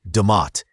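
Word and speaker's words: D'mt: Around the 8th to 5th centuries B.CE, a fascinating kingdom known as Dumat, pronounced Damat, began to coalesce in the northern highlands of what is now Aratria and northern Ethiopia.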